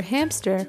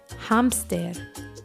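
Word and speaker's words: hámster: for hamster and remember even though this is a cognate and it's spelled the same way it's pronounced a little differently so for hamster we say hamster repeat after me hamster hamster hamster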